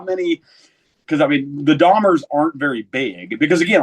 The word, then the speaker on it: Dahmer: No one was ever able, when I was a kid, to pronounce our last name right. It was Mm. Dahmer. Are you French? Is it Damir or whatever?